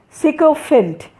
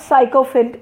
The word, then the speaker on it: sycophant: So the first one, we say didn't, but actually the pronunciation is didn't. We say subtract, but it is subtract. Eclectic, it is eclectic. Sycophant, it is not sycophant, it is sycophant.